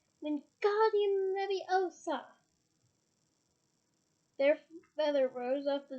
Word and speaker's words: Wingardium Leviosa: Wingardium Leviosa! He shouted, waving his arms around like a windmill. You're saying it wrong, Harry heard Hermione snap. It's Wingardium Leviosa. You make the guard nice and long.